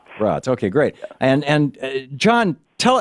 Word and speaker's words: Raatz: Am I pronouncing Eckart's last name right? Yeah, Eckhart Tolle is good. and your last name? Raatz. Raatz.